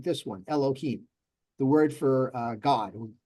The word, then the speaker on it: Elohim: it longer e but since it's accented back here the beginning it's quicker so it's Elohim see Elohim so it's a shorter sound at the beginning and that's designated by